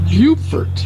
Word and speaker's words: Beaufort: And it's called Beaufort, not Beaufort, which is the town in North Carolina.